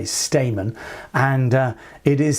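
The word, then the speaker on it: Stayman: responding to one no Trump, I should say, Stamon. And uh it is spelled S T A Y M A N of course.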